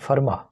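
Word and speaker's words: Fermat: दौरान अजीम रियाजी दन फर्मा इसके आख इसको एफ ईई आर एम ए टी है लेकिन टी को टी साइलेंट होता है फर्मा जो है उसने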